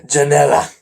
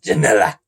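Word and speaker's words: Janela: Janella. Sounds like vanilla. Janella.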